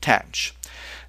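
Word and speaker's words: tanh: And we're going to pronounce this tench which actually rhymes with branch. Okay. So we have kosh, cinch and tanch.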